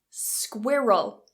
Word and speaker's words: squirrel: big boss squirrel squirrel the best thing to do is not to look at the spelling of this instead divided into two different syllables so we have Square square like squid okay Square roll Square roll so again we've got that dark l oh Square roll if you release that L and you say squirrel